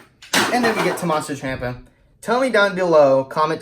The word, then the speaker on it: Ciampa: I say Ciampa. Could be wrong, but that's what some people pronounce it differently.